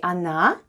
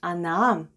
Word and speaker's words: она: The first sound is O, and it's unstressed and is pronounced as A. Then goes N, and then we have A. And all together it's она, which is Russian for she.